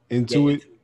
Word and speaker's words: Intuit: they're going to be the sponsor of that intuit into it yeah that's the name of it that's how you pronounce it yeah so they're going to basically